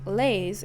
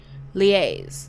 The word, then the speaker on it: liaise: I don't think lays is how you're supposed to pronounce that.